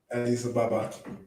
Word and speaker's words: Addis Ababa: Addis, Addis Ababa.